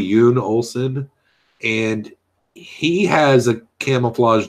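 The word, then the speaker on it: Jon Olsen: Like, I'm subscribed to a guy on YouTube called Yoon Olsen, but it's spelled J-O. So it looks like John, but it's really Yoon Olsen.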